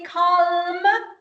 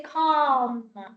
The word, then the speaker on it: calm: don't say autumn autumn Cal you don't say call you say calm okay that you don't